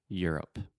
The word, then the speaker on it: Europe: the word Europe yeah so just think about your up Ear up Europe Europe yeah a lot